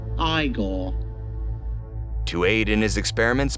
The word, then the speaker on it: Igor: has a trusty henchman in Fritz Paul and Igor was it now it's pronounced iore to Aid in his experiments but mostly to